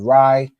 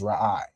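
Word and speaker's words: רֵעַ: It's pronounced like that because, of course, you can see the root word right here is Ra'ai, right? So you wouldn't pronounce this word Rai, you pronounce it as Ra'ai.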